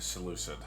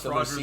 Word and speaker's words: Seleucid: Which, how do you say it? Well, interestingly enough, Seleucid? Roger, there three different ways to say it. Okay? I'm just going to say Seleucid. The American way to say it actually makes it